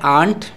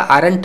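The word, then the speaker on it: aren't: लेकिन यहाँ पर आप देख पा रहे हैं आंट, इसका आरंट नहीं प्रोनाउंसिएशन करिएगा, आंट प्रोनाउंसिएशन करिएगा।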